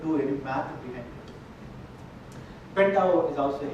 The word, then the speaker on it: Pentaho: Pentao is also, H is silent, by the way. You're not supposed to say Pentaho. It is Pentao platform.